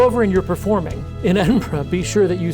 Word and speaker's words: Edinburgh: And the guy got up and he said, "It's great to be back in Edinburg." And everybody kind of cringed in the audience. So if you go over and you're performing in Edinburgh, be sure that you say Edinburgh uh when you get there.